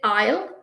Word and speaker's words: aisle: Then we did aisle, AISLE. So S is silent.